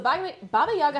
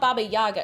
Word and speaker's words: Baba Yaga: Also, the accent on her name is in the last... Oh, it's Baba Yaga. So it's not Baba Yaga, it's Baba Yaga.